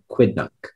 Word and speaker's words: quidnunc: very inquisitive about her neighbors that's the only pronunciation quidnunc quidnock q u i d n u n